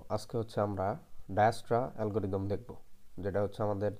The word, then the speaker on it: Dijkstra: আমরা অনেকে বলি ডিস্কট্রাস বা ডায়াস্ট্রাস অনেকে বলে। আমরা হচ্ছে এটার যে জেটা আছে না, এই জেটাকে আমরা এ উচ্চারণ করব, তাইলেই হচ্ছে সঠিক উচ্চারণ হয়ে যাবে।